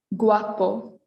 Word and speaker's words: guapo: that so over here the u is followed by an a not an e or an i which means we'll pronounce the u guapo next we have linguistica